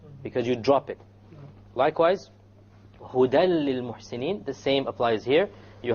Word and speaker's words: هُدًى لِلْمُحْسِنِينَ: Again, you don't say hudan. If you said hudan, then that would be incorrect.